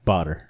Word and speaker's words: Badr: My name is Badr, and that's pronounced like water with a B. Badr.